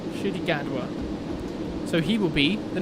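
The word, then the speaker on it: Ncuti Gatwa: google thank you okay that's how we pronounce it apparently should he gadwa so he will be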